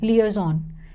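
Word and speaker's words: liaison: no need to put any I over here Le is on Le is on okay Le is on this I is silent people generally tend to miss that next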